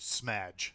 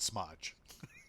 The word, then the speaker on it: Smudge: And for the love of God, you guys sending me text messages and stuff like that, that's pronounced smudge, not smudge.